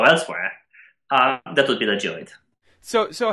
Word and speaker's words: geoid: So I guess the next question that would follow from that is, what is, I believe it's pronounced the geoid?